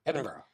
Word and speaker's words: Edinburgh: Um, but yeah, definitely place in Edinburgh, which I can't pronounce. Edinburgh.